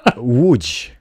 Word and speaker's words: Łódź: we'll do 300 kilometers as we go to Lodz. Lodz. How do you say it again? We're going to Lodz in Poland, everybody. Łódź.